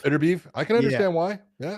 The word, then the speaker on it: Beterbiev: Beterbiev? Beterbiev.